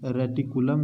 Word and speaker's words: reticulum: ये ओमाशम है, ये अबोमाशम है और ये रेटिकुलम है और ये रूमेन, तो आप समझ ही रहे हैं।